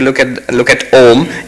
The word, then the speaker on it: Om: wrong in Sanskrit grammar when you have a and u together but the rules of sandhi it becomes o so actually when you